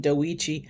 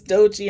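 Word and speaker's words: Doechii: I used to I used to pronounce her name Doichi. I didn't know it was Dochi until last year's Grammys.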